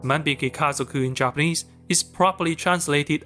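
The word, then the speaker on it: 万引き家族: Shoplifters, pronounced "Manbiki Kazoku" in Japanese, is properly translated as "The Thieving Family" in Chinese.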